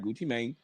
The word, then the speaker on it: Gucci Mane: I gotta say his name right. Gucci Mane, right?